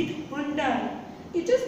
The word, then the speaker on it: Hyundai: I think most of the people say it Hyundai. It is not Hyundai. It is Hyundai. Hyundai. So, if you have any kind of Hyundai car, now you will not say Hyundai, you will say Hyundai.